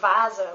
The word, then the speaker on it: Vase: But there are some words, like for example, Vase, which means vase, where it's pronounced like in English.